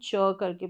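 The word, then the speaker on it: cheek: एस का उच्चारण स सी एच सी एच अगर साथ में आएगा तो इसको हम च करके प्रोनाउंस करेंगे तो चीक हो गया ये क्या है चीक फिर है डबल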